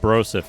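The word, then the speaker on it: brouzouf: a minor come adventurer it's spelled like b-r-o-u-z-o-u-f that's pronounced broseph I'm sure I can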